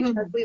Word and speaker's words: Cheslie: chelsea so i try to say charlie like leslie and i just like replace the l with the ch and maybe oh yeah